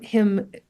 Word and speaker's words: hymn: so um the poem Him the title is spelled h ymn him like a song of praise and then um but you'll hear how it comes in often with its homophone h m right right